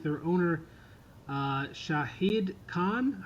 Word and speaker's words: Shahid: to have a mustache, just like their owner, Shahid Khan.